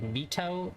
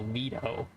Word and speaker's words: Vito: then Vito Vito's uh I always say his name weird it's like Mito but it's like no veto we're gonna go towards